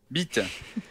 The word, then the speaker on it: bite: Imaginez que vous répondez à une question avec assurance. Bi. Te. Voilà, oubliez pas de laisser un très léger temps entre les deux syllabes.